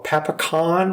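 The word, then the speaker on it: pasokon: So in English, we'll write it with a C, but in Japanese, there is no C. So it's really pronounced as like a K sound.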